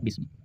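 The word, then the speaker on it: بِسْمِ: Bukan bismu tapi bismi. Kenapa kasroh? Karena diawali dengan huruf jar. Seperti itu. Makanya bacanya bismi.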